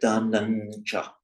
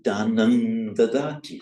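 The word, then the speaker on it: dānaṃ: Now, if it's followed immediately by another word beginning with a consonant, it takes on the quality of the following consonant. So you can say Danam cha, but Danan cha. And if you want to say he gives dana, it's dadati, it's danan dadati. So not pronounced as an M, but pronounced as an N for the following D.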